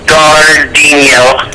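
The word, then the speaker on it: Jairzinho: It's not, you wouldn't pronounce the J as a J, right? It's Gardino. Fuck off.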